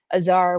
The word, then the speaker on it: Azar: it's as uh I The American or English pronunciation is Azar which is not too much different than the Farsi as all um and yeah so